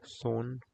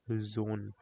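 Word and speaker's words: Sonne: In German, S has the sound of Z. So it's not son, it's zone. Zone, which is sun in English.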